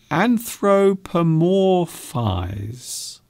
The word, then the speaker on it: anthropomorphize: Anthropomorphize. Anthropomorphize. So if you split the word up into syllables, it's not so hard.